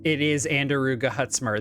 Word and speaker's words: Andaruga Hutzimer: It is Andaruga Hutzimer. That is exactly how I have pronounced it, and thank you for confirming that for me.